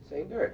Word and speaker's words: Sainert: It's like say nurse, only say nerd.